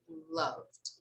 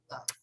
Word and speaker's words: loved: so strong okay so we never pronounce this vowel here this final e okay we usually pronounce only the final d but we don't pronounce the vowel so here we say loved loved okay it's very subtle